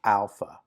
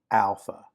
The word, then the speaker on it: alpha: The first letter is alpha, alpha. And again, I'm going to draw these, but first letter is alpha. You would pronounce that like the ah in father.